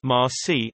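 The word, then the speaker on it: المسيح: The New Testament records the Greek transliteration Messias, Messias twice in John, JN 141, 425, Al-Masi, proper name, pronounced Ma-si, is the Arabic word for Messiah.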